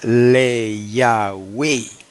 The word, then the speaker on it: le Yahweh: Si vamos a pronunciar el tetragramaton con ese prefijo, le, tendría que pronunciarse le Yahweh, hermano. No hay otra manera. Le Yahweh.